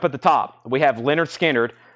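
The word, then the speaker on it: Lynyrd Skynyrd: that is Leonard skinnard $ 4999 Leonard skinnard pronounced Leonard skinnard $49.99 that's the audio file that is the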